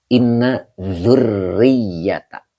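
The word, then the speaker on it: إِنَّ ذُرِّيَّةَ: Nah, ini dibacanya adalah inna zurriyata. Ini rnya pakai tasdid, ya-nya juga pakai tasdid ya.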